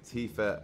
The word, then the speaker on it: Tifa: marrying cloud and then i'll make out with fifa uh did i say it wrong and yeah i'm gonna snog tifa i'm not sure i thought cloud was a